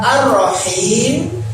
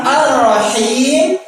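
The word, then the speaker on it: الرحيم: Pengucapan pada lafaz Ar-Rahim yang dia mengatakan dengan huruf kha.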